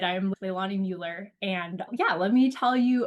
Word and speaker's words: Leilani Mueller: Yep, Leilani Mueller.